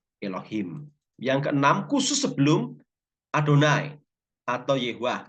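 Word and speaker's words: אדני: yang keenam khusus sebelum adonai atau Yehuwa tulisannya yehwa Tapi bacanya adonai kalau orang Israel Ya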